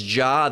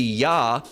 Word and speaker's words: Jah: And it's just like with J's, all right, there's, praise Jah, that's actually written within the scriptures. It's not, it's supposed to be Yah, all right, but we don't just say Yah, all right, we say Yahweh, all right?